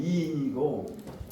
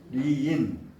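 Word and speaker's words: 里仁: 4편의 편 이름은 마을리자 뭐 이제 두음법칙으로 하면 이인이고 두음법칙으로 하지 않고 그냥 발음대로 하면 마을 리자죠. 리인.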